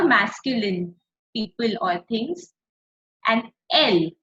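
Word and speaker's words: elles: And L. Again, LS is not pronounced.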